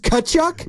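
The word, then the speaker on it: Tkachuk: good okay so no we don't pronounce the T silent T tachu it's just kachuck big big hockey guys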